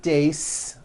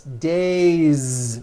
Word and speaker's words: days: It's not days, unvoiced. It's days with a voiced Z ending.